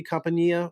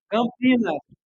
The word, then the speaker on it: Campinas: What is it? Campania? Is that another city? Campania or no? Am I saying it wrong? Campinas. Yes, Campinas. Oh my God, that was I gotta tell that story.